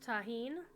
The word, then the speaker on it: Tajín: Pronounced Tajín. Oh, yeah, the J is, yeah, Mexican.